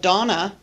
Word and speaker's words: Donna: from New Zealand and he pronounced my name instead of Donna and I he would say Donner and I Donner and I he used linking r at the end of my name to connect it to another word uh